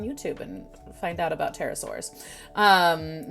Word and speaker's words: pterosaurs: and find out about pterosaurs um not pterodactyls i know it's a p that silent p terrible spelled with a